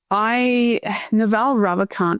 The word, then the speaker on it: Ravikant: It's Naval Ravikant.